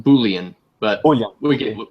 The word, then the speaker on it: boolean: numbers to string bowling bola bola bola Napoleon it's it's it's pronounced boolean but oh yeah we